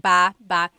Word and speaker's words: baba: So depending on how you're saying it, it could be baba, chin, baaba. Emphasis is on the first syllable, baba. Then there's babba baba. Emphasis is on the second syllable syllable. That means to go down. Baba, like going down an elevator. Baba.